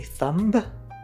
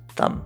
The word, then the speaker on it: thumb: By using MB in a word, we don't pronounce the B. So, we don't say thumb, we say thumb.